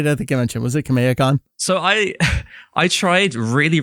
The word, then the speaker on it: Kameha-con: it very slowly because if you say it fast you you end up saying a dub way and so I'm going to say kha may ha Khan how did everyone say